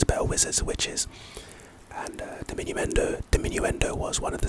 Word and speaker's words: diminuendo: Anyway, pronunciation de minu n do.